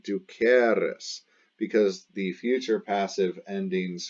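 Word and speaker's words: dūcēris: passive was ducatis d-u-c-e-r-i-s now the future is spelled the same way d-u-c-e-r-i-s but the e is a long e du cares and the pronunciation is different du cares because the future passive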